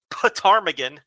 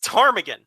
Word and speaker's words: ptarmigan: these dumb words where it starts with p yes but you don't pronounce the p it's not potarmigan it's it's tarmagen like it should either